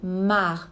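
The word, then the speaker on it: marc: E nas outras regiões a gente chama isso mar. Tem um C, se escreve marque, mas a gente não pronuncia, a gente diz mar.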